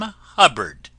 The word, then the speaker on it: Hubbard: This is wonderful Dame Hubbard, name that always rhymes with cupboard.